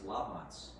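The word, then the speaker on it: Labanc: The real way to pronounce it is Lavance."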